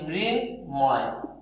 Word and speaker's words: মৃন্ময়: তাহলে মৃন্ময় এই হবে হচ্ছে এর সঠিক উচ্চারণ।